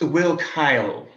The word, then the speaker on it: Willkill: According to his invitation, his name is Mr. Willkill. It's pronounced Will Kyle.